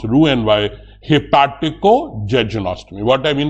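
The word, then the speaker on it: Roux-en-Y: or Gap then do Ru n y the spelling is r o u x e n y but don't call it R and Y it's pronounced Ru n y hipo josy what I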